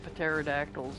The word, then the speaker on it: pterodactyls: to deal with the pterodactyls at some point I know you don't actually pronounce the P but it's fun pterodactyls stupid fly leave